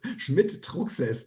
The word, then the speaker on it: Schmidt-Trucksäss: Um, Schmidt Toxes. So that is the German pronunciation of that and but anyhow um and it's unique because um Schmidt is six nearly 6% of the German population.